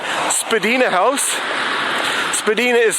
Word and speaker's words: Spadina: Right here we're going to be crossing Spadina Avenue, or Spadina Road actually, north of Bloor.